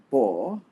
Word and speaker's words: baugh: English it is and it's pronounced ball and it's like Kavanaugh and a-u-g-h is a